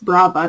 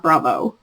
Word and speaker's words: Brava: that correctly Nick sorry nitpicks Brava not Bravo uh worsted in freesia